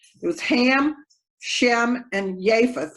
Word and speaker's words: Japheth: was ham shem and japheth or japheth that jay is not pronounced like a j with the three sons